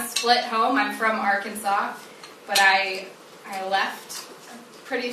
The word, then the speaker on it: Arkansas: LSU but we're right on top and it's pronounced Arkansas and I'm with the rotary club of Hot